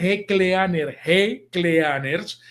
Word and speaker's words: G Cleaners: G Cleaners, se escribe G Cleaners y se pronuncia, dígalo conmigo, G Cleaners.